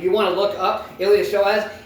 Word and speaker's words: iliopsoas: If you want to look up iliopsoas, it's ILIOP I'm going to say that again. ILIOPSOAS. Yes, the P is silent.